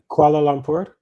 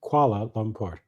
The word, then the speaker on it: Kuala Lumpur: Kuala Lumpur. Never have to say it. Kuala. Not koala, but Kuala Lumpur.